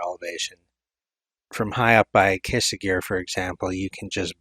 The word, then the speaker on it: Cysaegir: which by the way the current staff pronounces it like quesa gear the former staff that created it pronounces it size of gear Choose Wisely so the